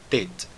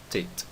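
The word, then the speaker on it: טית: Tet. Não é Tet, mais uma vez, é Tet. O som do Tet é o som T de tatu.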